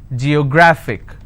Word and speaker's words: geographic: syllables do i have g yo grah fick and the rule says if i have a word ending with ic i need to stress on the second last syllable so i'll pronounce this as geographic if i have another